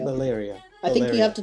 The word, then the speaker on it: Valeria: L-E- Valeria. L-E- yeah, Valeria. Valeria. I think you have to do it in two. It's a 2-syllable. It's a 4-syllable.